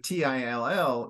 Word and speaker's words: till: the pronunciation so so so t-i-l-e would be tile so open eye so obviously with t-i-l-l then it's a closed eye so it's till okay so once again